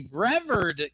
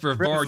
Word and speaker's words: Brevard: Excuse me, Brever County. Brevard. You live in Florida. It's pronounced Brevard, you dumbass.